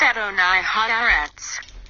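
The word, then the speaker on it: אדני הארץ: At an oil Haratz, meaning Lord of the Earth, pronounced Adonai Haaretz.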